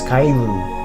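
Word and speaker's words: かえる: traditional japanese jumping frog the japanese word for frog is kairu which is pronounced in the same way as return travelers carry a small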